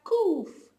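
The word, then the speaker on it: ק: we don't have it then we have coof coof which is equivalent to a k in english coof coof and one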